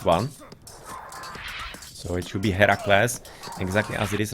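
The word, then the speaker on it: Herakles: bit of a switch a higher class is the Greek pronunciation or at the Greek name of the hero and Hercules is the Unruh sized one so it should be Hera class exactly as it is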